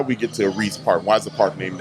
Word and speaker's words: Reese Park: really cool reese park am i saying it right rice or reese park please reese i was ooh i'm glad reese park okay let's talk about